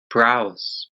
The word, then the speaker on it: browse: careful with the pronunciation I think you said something like browse but it' be browse with more of a zed sound at the end brows brows like eco-friendly also when you